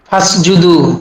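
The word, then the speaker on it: فاسجدوا: আদেশ সূচক ক্রিয়ার পূর্বে অ ফা যুক্ত হলে এরপরে আলিফটি লিখতে আসে, পড়তে আসে না।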